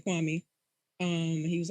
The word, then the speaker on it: Kwame: how they become remembered why may they keep calling him kwan may when his name is kwame um and he was